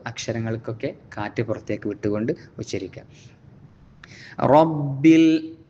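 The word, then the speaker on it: ربِّ: കാറ്റ് പുറത്തേക്ക് വിട്ടുകൊണ്ട് ഉച്ചരിക്കുക റബ്ബിൽ വീണ്ടും റാിന് പരത്തി പറയാതെ റബ്ബി ആവാതെ തഫ്ഹീം കൊടുത്തുകൊണ്ട് റ എന്ന് ഉച്ചരിക്കുക റബ്ബിൽ ആലമീൻ ആ എന്ന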